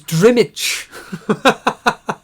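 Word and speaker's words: Drmić: That's how you pronounce it, Penguin. It's Drimich.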